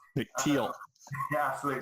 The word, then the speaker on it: Thiel: It's actually pronounced Thiel. Nick Thiel. Nick Thiel. Yeah, absolutely. Silent H, and no one ever gets it right.